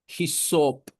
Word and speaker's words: ഹിസോപ്പ്: ഈ സോപ്പ് എന്ന് പറയുന്നത് ഹിസോപ്പ് സോപ്പ് എന്നൊരു ഉച്ചാരണം സോപ്പുമായിട്ട് ഒരു ബന്ധവും അതിനില്ല ഇന്നും ചിലരൊക്കെ അറിഞ്ഞുകൂടാത്ത പെന്തക്കോസ്തുകാര